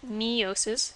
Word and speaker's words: meiosis: do with meiosis well it's an e sound so you get meiosis it's for sexual reproduction